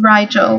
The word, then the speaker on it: Rigel: for boys if I'm Rigel which rhymes with Nigel and if is an